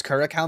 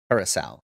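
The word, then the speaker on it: Curaçao: Yes, Curacao maybe.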